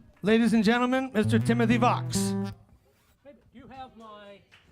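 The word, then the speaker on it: Vaks: Timothy Vox. V-A-K-S rhymes with Vox. Timothy. AcoustiCafe, you still with us? Ladies and gentlemen, Mr. Timothy Vox.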